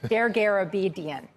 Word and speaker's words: Dergarabedian: Joining us now to discuss what to expect in 2024 is Paul Dergarabedian. No. I can do better than this. Dergarabedian.